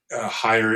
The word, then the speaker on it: Heyer: Um, again, if you're not watching this video, if you're listening to it, Higher is my last name and it's spelled H E R.